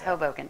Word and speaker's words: Hoboken: It's Hoboken.